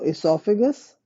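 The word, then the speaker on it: oesophagus: you've got the esophagus there is an o with it o e s o but you don't pronounce the O So esophagus then we've got the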